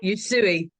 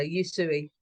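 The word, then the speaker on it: Usui: you you you sure you suie okay perfect think chop suie and just it might come easier you suie okay so do you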